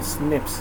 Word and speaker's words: SNP: call it as snps single nucleotide polymorphism or snips as it is pronounced which occurs in human this information promises